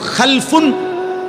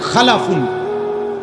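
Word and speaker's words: خَلْفٌ: একটা হলো খালফুন আর একটা হলো খালাফুন। একই শব্দ, শুধু উচ্চারণের মধ্যে একটু ভিন্নতা। মাঝখানে একটা লাম আছে, এই লামটার মধ্যে যদি সাকিন হয় তাইলে হলো খালফুন, আর যদি লামের মধ্যে জবর হয় তাহলে হলো খালাফুন।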